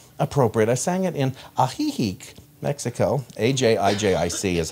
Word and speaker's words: Ajijic: I sang it in Ajijic, Mexico, A-J-I-J-I-C is how it's spelled, but that's the town we were in.